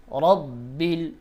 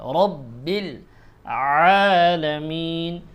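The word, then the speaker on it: رَبِّ الْعَالَمِينَ: হাজের হি লিল্লাহি লিল্লাহি রব্বিল রবা জবর রব্বালাম বিল রব্বিল রব্বিল র উচ্চারণ মোটা হবে রাব্বিল বলা যাবে না অনেকে রাব্বিল পড়ে রাব্বিল হবে না রব্বিল পড়তে হবে রব্বিল আলামিন আইনের উচ্চারণ গলায় চাপ দিতে হবে।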